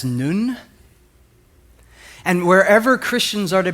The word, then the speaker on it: nun: n for Nazarene uh they pronounce it as nun and wherever Christians are